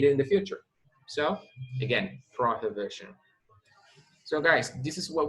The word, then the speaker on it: prohibition: The pronunciation of this word, the H sounds like a J. La H aquí no es muda. En español es prohibición. En inglés es prohibition. Prohibition.